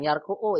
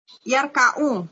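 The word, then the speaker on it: يركع: Bukan yarku'u, Ibu salah bab. Roka'a Yarka'u. iya, yarka'u. Yarka'u.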